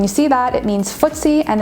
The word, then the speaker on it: FTSE: term is the abbreviation f t s e and it's often pronounced ftse like when you're playing footsies in grade school under the desk and this stands